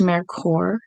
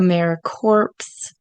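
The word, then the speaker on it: AmeriCorps: service year so firstly it is pronounced Mar core not a mer corpse um or any other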